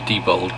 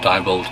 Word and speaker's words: Diebold: Okay, it might be debold, but I always pronounce it diebold.